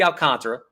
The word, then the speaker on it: Alcantara: be your National League Psy young winner Sandy Alcantara as his name is properly pronounced it's 12 and 7 this year with